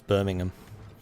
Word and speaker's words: Birmingham: Birmingham and Buckingham yeah you don't really pronounce the ham it's Birmingham it's burning in there